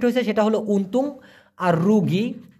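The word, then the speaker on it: rugi: সেটা হলো উনতুং আর রোগী আর ইউ জি আই উচ্চারণটা হবে রোগী এই রোগী মানে হলো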